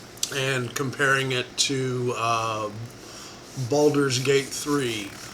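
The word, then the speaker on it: Baldur's: comparing it to uh balder's gate three balders not boulder's gate i've always pronounced it incorrectly anyway um this is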